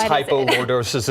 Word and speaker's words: hypolordosis: How common is hypolordosis and what are some symptoms as well as treatments for it? First off, what is hypolordosis and am I saying it right?